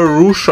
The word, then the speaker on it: Rush: Bin kurz verwirrt gewesen wegen der Wrestler Rouge, der Rush geschrieben wird, aber Rouge ausgesprochen wird.